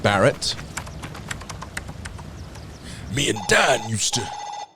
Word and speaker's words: Barret: let's touch base with the others Roger it's pronounced Barrett me and Dan used to yes hello hello